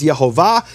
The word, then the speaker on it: Yehovah: We don't know what man, but he received this as a tradition, that the true pronunciation of the name is Yehovah, and the way he